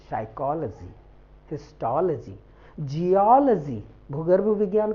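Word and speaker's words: histology: पढ़ते हैं सब बट no this is नॉट हिस्टोलॉजी this is हिस्टोलॉजी हिलजी मैं लिख दू पहले फिर डिस्कस करू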